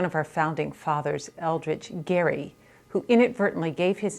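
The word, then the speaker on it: Gerry: we can't remember that his name was actually pronounced Gary and uh that particular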